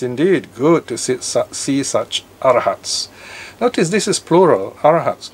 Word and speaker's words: arahat: Sometimes pronounced as arahant, okay?